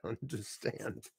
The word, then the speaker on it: understand: So even though we're saying this word quickly, we still pronounce it as understand. I understand what you're saying. It's not understand, it's understand. That's how we say it.